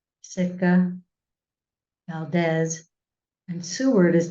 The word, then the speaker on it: Valdez: 93 cable miles from Valdez or Valas I think is another pronunciation so I'm using Valdes as reference for both so the work occurred